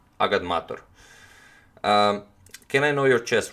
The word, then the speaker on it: agadmator: You pronounce it agadmator, like it's, you know, like it's written, agadmator.